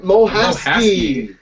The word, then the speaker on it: Mohasky: Mohasky.